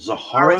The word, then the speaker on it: Zahara: Is it Zara's Zahara? been with, no, it's Zara's Zara. been with me for a long time. Zara. So the H is silent.